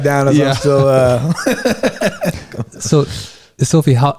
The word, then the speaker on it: Eszylfie: I tell people the easiest way to remember pronouncing my name is think of a selfie, like you're taking a photo, and put an E in front. Eszylfie.